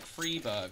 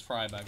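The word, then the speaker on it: Friberg: was also the argu isn't it like freeberg or something that blows my mind it's fryberg I don't care even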